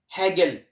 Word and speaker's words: Hegel: एक German philosopher थे जिनका नाम था हैगल, HEGEL, हैगल। तो हैगल की स्पेलिंग बोर्ड पे है।